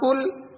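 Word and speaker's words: كل: آپ کہہ دیجئے قل۔ اور پتلے کاف کے ساتھ قل، قل کا معنی ہوتا ہے آپ کھائیں، کھانا شروع کر دیں۔ تو قل اور قل میں کتنا فرق ہے؟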